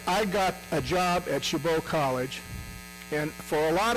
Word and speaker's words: Chabot: I honest to God did not know how to pronounce shabo I thought it was Chabot I thought it was shabat I had no idea but anyway they call